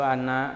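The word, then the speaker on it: أنّ: tasdidnya juga kurang Ashadu anna muhammadar rasulullah Nah itu terdengar eh tidak afdol gitu ya Ashadu anna Nah itu saja harus disempurnakan ghunahnya Anna ya dua ketuk muhammadar rasulullah jadi ada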